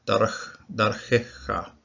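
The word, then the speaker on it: דַּרְכְּךָ: Okay, this shava won't be pronounced. It just closes the syllable.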